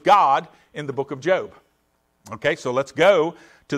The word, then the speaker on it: Job: you come to the book of job not job i know it's our word for job but it's actually pronounced job so so we've got the the book of